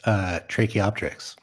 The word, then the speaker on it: Tracheopteryx: Read it out loud if you could pronounce it. Sure. It's Tracheopteryx.